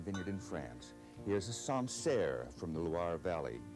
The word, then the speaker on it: Sancerre: Here's a Sancerre from the Loire Valley, Sancerre.